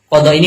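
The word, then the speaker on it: قضاء: Jadi yang benar itu bacanya kitabu adabil Qadai' bukan kitabu adabil Qi.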